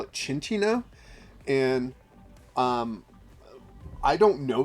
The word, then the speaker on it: Cinccino: that uh card name there's no h in that name so I don't know why it would be called chin Chino uh uh and so